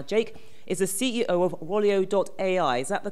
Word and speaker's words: Rolio.ai: Now, Jake is the CEO of Rolio.ai. Is that the correct pronunciation?